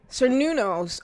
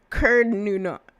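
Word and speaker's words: Cernunnos: Cernunos. Oh, no, sorry, it's pronounced Cernunus. Cernunus?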